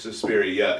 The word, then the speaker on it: Suspiria: Was it Suspiria or Suspirium? It's Suspiria.